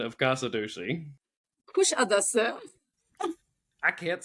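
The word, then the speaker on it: Kuşadası: we stopped in a port that I would pronounce Kasadusi because I'm from East Tennessee. Now, Sue, what is the proper pronunciation of Kasadusi? Kushadasa.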